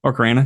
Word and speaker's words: Ocarina: I've only played Orca of Time how do you say it? Is it Orca of Time? Ocarina? Yeah.